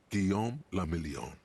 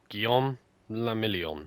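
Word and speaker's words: Guillaume Le Million: meant only one thing Gom lilon ah I remember my name gon lilon if it doesn't rhyme you're not pronouncing it right gon out of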